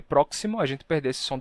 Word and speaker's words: próximo: Bem, aconteceu que em máximo e próximo, a gente perdeu esse som do k, ficou máximo e próximo.